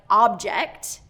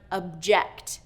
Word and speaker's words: object: These are words that are spelled the same, but their word stress is different, so they're pronounced different. Okay, so words like object and object.